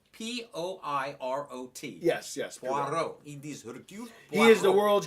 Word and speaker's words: Hercule: They kept calling him Hercules in the movie. It's not because going it's jerk. actually Hercule. Hercule. Hercule. Poirot. Hercule. Poirot. Yes. Poirot. It is Hercule Poirot.